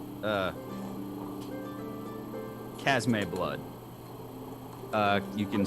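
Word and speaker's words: Chasme: two vials of what i'm gonna call uh casmay blood uh you can spell uh spell that out c-h-a-s-m-e blood just for pure curiosity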